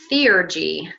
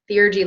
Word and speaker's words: theurgy: move on to the third wisdom of Hermes seer G in case you need me to spell that for you it's t-h-e you are G Y C like Co like divine ergy working so divine working Theor G literally means divine working and this is the